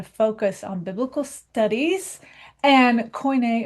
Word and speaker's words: Koine: on biblical studies and Koine or Koiné Greek depending on your pronunciation.